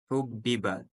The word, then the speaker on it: حُبِّبَ: Вот здесь читаем касру. «Хуббиба», потому что стоит снизу значка.